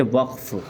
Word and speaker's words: وقف: بول دیا کرتے ہیں، لیکن عربی کے اعتبار سے اس کا جو تلفظ ہوتا ہے وہ ہے وقف۔ وقفن ہے یہ، واو قاف زبر وقف، یعنی جو قاف جو ہے وہ ساکن ہے اس میں۔ تو سب سے